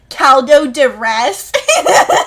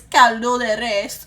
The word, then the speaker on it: caldo de res: Did you just say caldo de res? That's not how you say it. And then I was like, how do you say it then? And he was like, it's caldo de res.